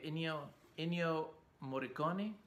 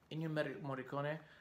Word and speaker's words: Ennio Morricone: How do you pronounce this Italian guy? Yeah, Ennio Morricone, Ennio Morricone, you know, the Italian composer for like the spaghetti western stuff, Sergio Leone stuff.